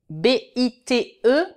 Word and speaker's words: bite: B-I-T, bit. B-I-T-E, bite. A bite.